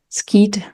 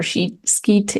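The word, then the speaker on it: Scheat: Not only that what I'm seeing is the star of Pegasus ski or sheke. Yes, I think most people pronounce it this way.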